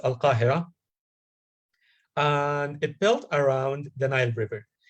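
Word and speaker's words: القاهرة: long time ago, and it pronounced in Arabic, as we know that because Egypt is an Arab country, so they say that it's Al-Qahira, and it built around the Nile River.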